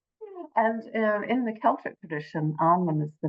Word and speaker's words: Annwyn: want to share that the pronunciation is Annwyn. And the reason for that is the sound ah is very different to eh.